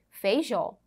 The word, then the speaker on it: Feijó: palavra ela é oxítona veja os exemplos Feijó separamos as sílabas Observe aí a seta observa a sílaba tônica é a última Veja a palavra Xapuri